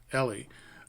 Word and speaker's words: Eli: is ell or Ellie you say pronounced like jelly only without the J Ellie um I suddenly as